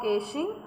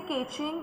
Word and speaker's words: caching: Edge locations are the endpoints for AWS used for caching content. So you can say caching, but the right word to pronounce this spelling is caching.